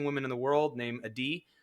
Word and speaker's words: Adi: He's married to one of the most amazing women in the world named Adi. Adi, who I mispronounce her name all the time. I call her Addie.